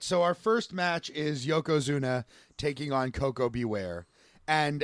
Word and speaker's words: Yokozuna: very first thing out of bartlett's mouth is mispronouncing yokozuna calling him yokozuma and saying that he's wearing a giant diaper